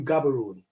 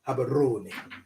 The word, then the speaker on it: Gaborone: Because the last four letters, R-O-N-E, Roni, Habaroni. I'm saying it in English so you get it, but they will roll the tongue. Habaroni. Right. Now, Hebron is Habaroni.